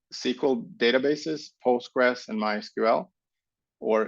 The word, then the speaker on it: MySQL: We give you VMware SQL, which is a package of 2 SQL databases, Postgres and MySQL, or MySQL, as I or is supposed to be pronounced.